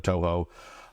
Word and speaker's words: Toho: I called it Shoho instead of Toho.